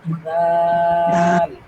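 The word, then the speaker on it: ذال: দালের হ্যাঁ দাল দাল দালের উপরে এক নুক্তা দিলে এটা যে উচ্চারণ হবে সেটা হলো জাল বলেন জাল জাল জাল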